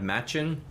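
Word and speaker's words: Match1n: I'm a huge fan of Machin. If you don't know Machin is spelled M-A-T-C-H-1-N, the number 1-N.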